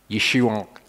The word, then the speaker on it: Yeshua: to make okay Yushu his name actually ends in an iron so technically his name is Yeshua that's kind of it's it's lost in the subtlety of pronunciation when I pronounce things like this and the and the hat you'll notice that I'm deliberately saying it because it's not a not a natural sound for us to make for that's the the